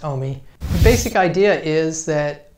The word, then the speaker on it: AUMI: She came up with this idea and instigated this program called AUMI, A-U-M-I, which she pronounced OMI.